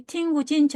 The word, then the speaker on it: 听不进去: 이 뿌는 경성으로 발음을 합니다. 그래서 听不进去 하는데 자, 이 听不进去 할 때 이 찐취를 써서 표현을 했는데요.